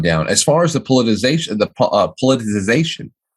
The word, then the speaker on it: politicization: As far as the politicization, how do you say that fucking word? Polarization?